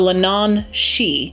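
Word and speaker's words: leannán sídhe: It is pronounced the Lenan She. Please roast me in the comments if I got that wrong.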